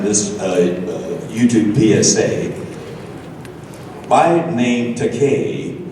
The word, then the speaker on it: Takei: YouTube PSA by named takane rhymes with gay so in Tennessee if